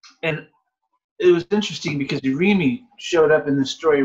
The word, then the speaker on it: irimi: It's you roll the R, but I can't roll the R today because I've got a canker sore. It's spelled I-R-I-M-I. And how do you say it? And you would roll the R, because the R is not really pronounced in Japanese the way we pronounce it.